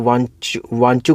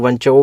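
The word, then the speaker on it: Wanchoo: तो कुछ लोग इसको वांचू कमेटी भी कह देते हैं, कुछ लोग वांचाऊ भी कह देते हैं, तो प्रोनाउंसिएशन वांचू करके है इसकी, ठीक है।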